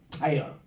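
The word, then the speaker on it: Tyre: 타이어. 이래서 좀 발음이 좀 틀려요.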